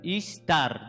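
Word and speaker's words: Ishtar: ejemplo de la diosa istar istar eh No es inglés es así se pronuncia así istar de ahí viene la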